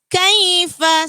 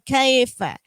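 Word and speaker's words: كيف: in jadi harus pas Kaifa sama dengan sebelumnya disitu ada huruf lain bunyinya khofifa bukan Kiva Kiva dada juga pengucapan pada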